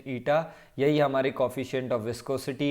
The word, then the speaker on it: eta: ईटा इससे आप लोग फेमिलियर हो, इसका प्रोनाउंसिएशन ईटा.